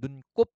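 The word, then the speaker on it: 눈곱: 원뜻이 유지가 되기 때문에 발음은 눈꼽 눈살 으름장이라고 된 소리로 바람 하지만 그죠 원형대로 적게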